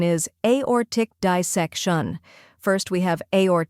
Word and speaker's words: Aortic: the correct pronunciation is aor Tick dissection first we have aor tick where a sounds like the letter A or is emphasized like an orbit and tick is short and crisp next dissec shun where